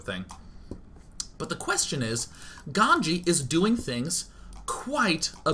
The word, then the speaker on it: GanZi: and by the way his name is actually pronounced ganji for any of you who are being like Oh my God it's a z and Day N doesn't know oh no what are